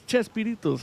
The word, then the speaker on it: Chespirito: sorts because it's just it's spoken phonetically so it becomes so they say, "Hey, it's Shakespeare." And then everybody is like, "Yeah, it's Chespirito." So the shape and they dropped the they dropped the K and put a ch